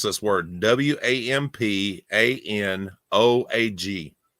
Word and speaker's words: Wampanoag: Now, if you split it into three parts, right? So you've got Wham, Pam, Wimp, and Og.